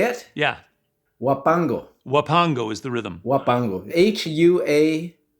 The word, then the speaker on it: Huapango: Huapango.